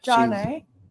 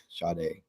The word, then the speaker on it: Sade: Jade? No, not Jade. Sade.